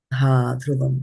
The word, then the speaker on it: dhruvam: And I don't know how you pronounce this one, dhruvam. I somehow heard it as dhruvam. So just dhruvam. dhruvam, that's the right one.